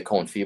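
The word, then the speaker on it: confit: you ever tried the coin fee before duck comfy i have not no so i'm going to yeah and it's spelled like c-o-n-f-i-t it's one of those french words but that in that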